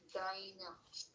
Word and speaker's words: găină: A hen in Romanian, we say Găină. exact. You have Găină. găină. See, you don't Găină.